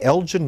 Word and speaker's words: Elgin: original title and the elgin marble should they be returned to greece what is this very quickly about it's actually elgat it's a hard g he's the english lord